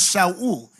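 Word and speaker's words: שאול: The Hebrew word for Saul, the Hebrew pronounce him as Shaul, it means desired.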